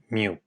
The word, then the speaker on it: mu: B / B equal to this Greek letter pronounced as Mu so every change in the level of domestic